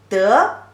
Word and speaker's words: 得: Here the third character, also the pronunciation is very similar, has two pronunciations. One is the second tone, de, and another one is the light tone.